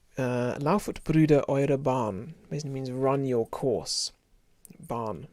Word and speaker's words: Bahn: bruder run your course barn like autobahn in german which word you may